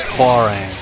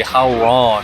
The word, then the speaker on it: Hwoarang: one is uh hang I think the technical pronunciation is farang but uh for whatever reason the uh just the game itself in this one in particular I mean like they say how wrong whenever you pick them